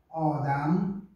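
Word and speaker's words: آدم: Odam, o Adão, Odam, Odam, tem muitas palavras, né?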